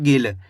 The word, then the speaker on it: गिल: ऐसे नहीं पढ़ना आपको गिल। अगर आप गिल पढ़ोगे तो यहाँ पे बड़ी ई की मात्रा का उच्चारण हो जाएगा। यहाँ पे बड़ी ई की मात्रा लगी हुई खींच के पढ़ा जा रहा है गिल, यहाँ पे छोटी ई की मात्रा है गिल।